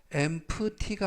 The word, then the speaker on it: empty: 이때 유의하실 것은 알파벳 P가 묵음은 아니지만 발음할 때 거의 들리지 않습니다. 그래서 empty가 아니라 empty, empty, 즉 the empty can 하면 빈 캔이라는 뜻이 되겠고요.